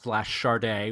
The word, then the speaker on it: Sade: I was going to be talking about Sade charde with you and and she's like really charde